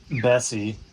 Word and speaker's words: Bessie: lunch at brandolino um bessie as you said rhymes with messy and almost the same